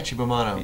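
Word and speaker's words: Cibo Matto: Yeah, Chibamato.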